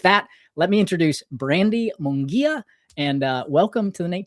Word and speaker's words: Munguia: So with that, let me introduce Brandi Mungia, and welcome to the Nate Show, Brandi.